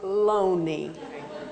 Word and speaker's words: Loney: My client's name is Mr. Loney. This is not difficult to pronounce. It is spelled like Looney. It is spelled like Loney.